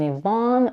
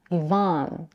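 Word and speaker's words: Yvonne: the second vowel in Ivon with unrounded lips A as in Father Evon this makes it sound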